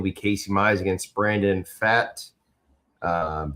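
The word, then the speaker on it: Pfaadt: Game two Tuesday will be Casey Mize against Brandon Fatt. Um the P is silent.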